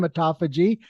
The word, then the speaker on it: autophagy: as I've already stated, and like I said, pronounced correctly for the first time, autophagy.